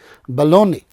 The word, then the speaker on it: Bologna: but the pronunciation is baloney so g is silent here okay so it is